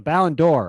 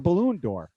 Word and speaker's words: Ballon d'Or: prestigious award mr bontemps it is pronounced the ballon d'or or as brian just said it before the balloon door when he asked what